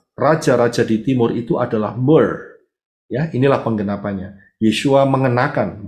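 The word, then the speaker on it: myrrh: sebelah kiri atas itu ada tulisan my R RH m y r RH Mer bacanya itu kristalnya seperti itu tetapi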